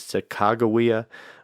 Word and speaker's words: Sacagawea: I chose to go with Sacagawea because that's what I'm comfortable with. I grew up down south, and that's how I've always said her name. I believe that nowadays it's most widely accepted as Sakakawea, like a hard G, but the Shoshone, where